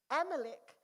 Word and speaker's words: Amalek: Amalek.